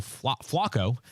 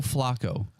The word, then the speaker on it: Flacco: So if something happens to Joe Flacco, then I would be turning to Ryan Tannehill. I think you're using the Baltimore pronunciation when you say that, right? Yes, it's like a flock of ravens.